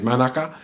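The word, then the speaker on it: mānuka: Yes, Manuka, or the correct pronunciation in Maro is Manaka, is the correct word.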